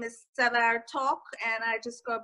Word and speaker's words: Sev: in the DC suburbs um my name is SE talk and I just go by SE it's easier to pronounce that way wow and and your UFO